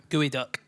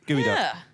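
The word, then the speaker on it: geoduck: Washington State uh there's now it's spelled g-e-o-d-u-c-k g-e-o-d-s-go duck gooey duck gooey duck weird to start with is gooey duck spelled completely the wrong way and I've never seen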